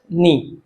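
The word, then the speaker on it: knee: paint वास tone eight नी के and double E समझ गए इसका ये के है ये साइलेंट रहता है केवल इसको नी नास किया जाता है पूरा क को इसमें साइलेंट रहेगा अगला वाला सेंटेंस है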